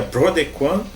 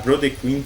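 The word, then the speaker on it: Brodequin: americana né que tem o nome francês de um instrumento de tortura né então seria BR de quan Mas vamos pronunciar BR de Queen como dizem os americanos o album chama harbinger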